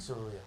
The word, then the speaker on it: Seruya: Soria. Soria. Could you spell that, please?